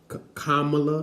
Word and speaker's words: Kamala: gotta start off with this this tick tock kamala is that that's the correct pronunciation of her name we're gonna be hearing